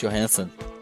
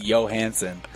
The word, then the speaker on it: Johansson: it's a Swedish last name, and in Sweden they don't pronounce J's; they're pronounced as yeah. What do they have? So it is technically Johansson.